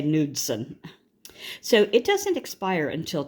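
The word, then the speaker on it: Knudsen: try to say it RW nudson I would say that the K is silent it might be nudson but I'm going to say nudson so it does expire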